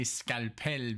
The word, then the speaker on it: Skalpel: You know, but I say Skalpel because that's how you say it in German.